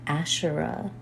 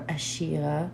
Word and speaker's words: Asherah: Today have been preparing to make a video on Asherah. Lots of you have asked me about Asherah or Ashira, the better or the more proper pronunciation.